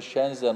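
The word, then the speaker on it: Shenzhen: şehri var Eee Çin'in Hatta okunuşu İngilizce olarak baktığımda şenzen okumam gerekiyor Ama onların kendi Eee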